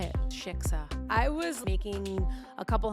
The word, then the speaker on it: shiksa: I like called Jeremy's grandma and I'm like, so would you consider me a shitsva? You guys, a shitsva. How do you say it? Shiksa.